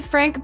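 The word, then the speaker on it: Phranque: It's actually Frank, but it's spelled P H R A N Q U E.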